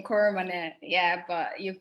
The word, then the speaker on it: Koromone: I pronounce my name properly. It's Koromone. You said it a bit fearful. It's just one name, Koromone.